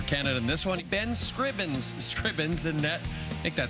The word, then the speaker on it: Scrivens: young yang young yang Ben Scrivens Scribbins and net make that Scrivens and net for Canada and this one Ben Scrivens stripping's and net make